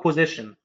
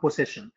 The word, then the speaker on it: possession: possession أو position، بس هي الأصح نطقا possession، هي الاستحواذ أو الاحتفاظ